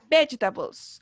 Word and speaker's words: vegetables: Y cargamos la voz, ¿cierto? En las 2 primeras sílabas, ¿cierto? En veg. Vegetables.